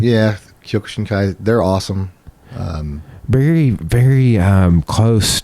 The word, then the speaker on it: Kyokushinkai: Kyokushin? Yeah, Kyokushinkai.